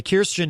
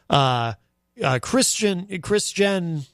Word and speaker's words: Kirstjen: Kirstjen Nielsen, rather. Kirsten Gillibrand, of course, is a senator running for president. Kirstjen I almost did it again.